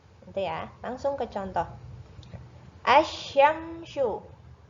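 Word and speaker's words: الشمس: Asyamsyu. Nah, L-nya nggak terlihat ya, karena lamnya dibaca masuk ke huruf setelahnya di sini. Setelah alif lam ada huruf samsiah, yaitu huruf shin. Bacanya langsung ke huruf shinnya. Asyamsu.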